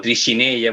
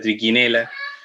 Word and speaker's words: Trichinella: Entonces van a haber muchos parásitos como trichinella, por ejemplo, que se pronuncia triquinela, o Echinococcus, que muchos le dicen Echinococcus, debería ser Echinococcus, ¿ya?